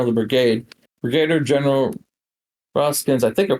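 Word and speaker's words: Rosecrans: Brigadier General Rosskins, I think I pronounced it correctly, spelled R O S E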